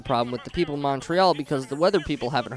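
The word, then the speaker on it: Montréal: In French, they pronounce it Montreal, and I'm not so sure we're gonna get there today.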